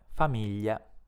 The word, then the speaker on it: famiglia: parole prosciutto e asciugamano la i non si pronuncia neanche in un altro caso quando cioè si trova tra la combinazione di lettere gl e un'altra vocale Analogamente ai tre casi visti finora pronunciamo GL col suo suono debole quindi gli dietro questo suono pronunciamo la vocale che segue la i g l i a si pronuncia gli come nelle parole famiglia e bottiglia GL II è impossibile